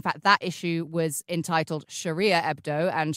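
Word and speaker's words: Charia: In fact, that issue was entitled Sharia Hebdo, and Sharia is French for Sharia, as in Sharia law. Sharia spelt with a C-H like Charlie.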